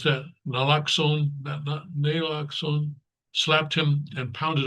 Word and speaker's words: naloxone: She gave him 4 treatments of how do you pronounce that? Naloxone, naloxone, slapped him and pounded on his chest, anything to revive him.